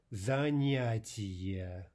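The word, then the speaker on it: занятие: Next one, activity, zanyatiye. So we have a, ya, I, ye, four vowels, four syllables.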